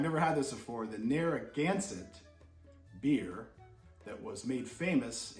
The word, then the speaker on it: Narragansett: going to be trying near against uh i said it wrong darn it narragansett beer i looked it